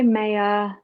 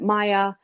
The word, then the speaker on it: Maya: she was like hi Maya and that's that's not how you pronounce my name you pronounce it Maya um and I just